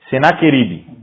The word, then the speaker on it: Senaquerib: Senaquerib.